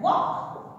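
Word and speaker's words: walk: फिर वर्ड आता है वॉक। वॉक का अर्थ होता है चलना, इसमें एल साइलेंट है।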